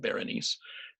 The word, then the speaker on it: Berenice: changed her name probably she was born bernice abbott ber and i seee and Marcel Duchamp always pronounced it Berenice and by the time